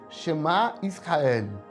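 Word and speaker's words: Shema Yisrael: de shemaki é basicamente Essa oração é é pronunciada assim Chamar Israel Adonai e Lorraine Adonai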